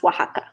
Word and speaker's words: Oaxaca: just absolutely beautiful so I went first to Oaxaca to the city and Oaxaca by the way is spelled Oh a ex-ac a but it's pronounced Oaxaca and I can see at Edgar and share